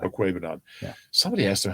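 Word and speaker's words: Okwuegbunam: It's Okwebanon, by the way. Okwebanon.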